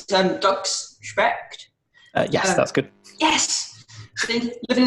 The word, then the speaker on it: Specht: So next up we have, sorry if I get your surname wrong, I'm not sure how to say it, but it's Dr. Specht.